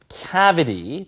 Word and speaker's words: cavity: 자 북미권 발음 기준으로요 City cavity t 발음을 니 발음처럼 부드럽게 하는 것이 북미 발음의 특징이죠 자 You must have